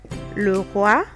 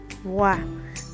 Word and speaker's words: roi: the king, le roi, roi. Then we have le bois. Bois is wood. So when you see this, next time don't say Roy and Boyce. It's roi, le bois.